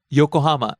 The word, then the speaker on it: Yokohama: Next, yokohama. The city starts low, rises on the second syllable. Co, stays high.